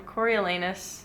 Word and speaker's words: Coriolanus: Coriolanus.